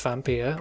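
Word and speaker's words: Vampyr: all things Vampir and yes it is pronounced vampire was a game that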